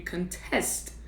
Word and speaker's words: contest: So for example, there's a contest, a noun, maybe like a food eating contest. However, if you want to question or challenge something, you will contest it. So with a food contest, the stress is on the first syllable, but when you want to question something or challenge something, you contest. Now the stress is on the second syllable.